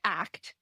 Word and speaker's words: ACT: Can we talk a bit about what ACT therapy is and kind of how they begin to fill some of those gaps? So, it's actually pronounced ACT. So, that you got to always say ACT because that's what Steve Hayes says.